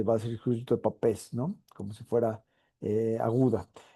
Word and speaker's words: Papez: Lo pueden leer de cualquiera de las dos formas. Creo que la pronunciación original en húngaro era James Papes, pero todo el mundo le llama, en inglés le llaman circuito de Pepys, y en español casi